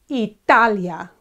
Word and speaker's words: Italia: Italy in Spanish is Italia Italia okay and there are three syllables e Talia okay so it's he